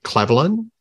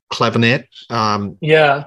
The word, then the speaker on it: Clavinet: using a different type of keyboard called the clavelin. I don't know if you pronounce that properly. Very Egyptian. Clavinet.